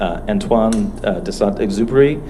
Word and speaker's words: Antoine de Saint-Exupéry: Yeah, and my French pronunciation is terrible, but Antoine de Saint-Exupéry, I think is how it's pronounced, is the